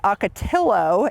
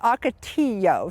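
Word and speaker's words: ocotillo: of people pronounce this atillo it is aao so it's a y sound when you're pronouncing this so This in most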